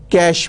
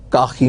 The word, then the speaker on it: cache: let's talk about the cache memory people used to call it as cocky memory catchy memory but now the word c-a-c-h-e has settled its pronunciation and it is called cache memory be careful its spelling